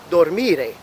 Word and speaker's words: dormire: The infinitive form sounds like dormire. Again, this time it's falling on the second syllable again.